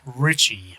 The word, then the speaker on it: Ricci: It's Ricci, but you pronounce it Ricci.